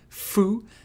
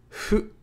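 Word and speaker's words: ふ: making a sound so it's not Foo it's not who it's who it's pronounced like a softly blown out version of Foo in full or sometimes who in hoop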